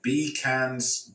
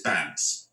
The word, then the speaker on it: Bkandz: So the K is silent, so it's Bkandz, it's Bandz, right?